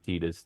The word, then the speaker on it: Tidus: I mean the thing saying that it's clo since the Japanese version of it is Tetus then it should be that way in English.